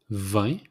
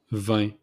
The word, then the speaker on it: vin: Wine, it's vin, like the number 20, vin. It's exact same pronunciation, vin.